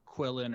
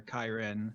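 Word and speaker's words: qilin: dragon green yeah it has different pronunciations to be quillin or chiron it's like a it's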